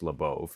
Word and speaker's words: Labov: Beginning in the 1960s, William Labov, the founding father of modern sociolinguistics, and yes, it's pronounced Labov, who was one of my academic advisers, started